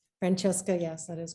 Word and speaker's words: Francesca: I hope I'm pronouncing your name correctly. Francesca, yes, that is correct.